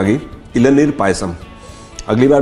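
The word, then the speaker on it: Elaneer Payasam: Y silent होता है इलनीर पायसम.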